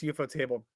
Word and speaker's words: Ufotable: Wait, is it UFO table or Ufotable? Like, I heard it's UFO table based on pronunciation.